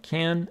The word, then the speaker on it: can: is the pronunciation of can and can't the first one can doesn't carry any stress but the second one does how we pronounce it